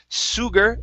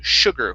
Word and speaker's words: sugar: this last word here instead of sugar it's sure so the sh here is actually going to be an an sh sound so or the s is going to be an sh sound so sugar one more time sugar okay very good uh